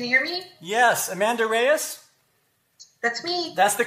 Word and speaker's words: Reyes: night movie can you hear me yes amanda reyes that's me that's the correct correct pronunciation of your name i was concerned about